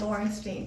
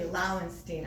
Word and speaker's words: Lauenstein: So this would be I call it Lawrenstein, but I realize you spell it without the R. That's just a problem in my brain where I've always called it Lawrenstein, but it's actually Lauenstein, I suppose. I don't spell it with an R, I just say it with an R.